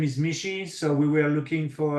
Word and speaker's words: Michit: business partner Mar Lon my last name is Mishi so we were looking for a name with